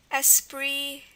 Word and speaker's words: esprit: That's why you've got all those silent letters. Esprit and prix.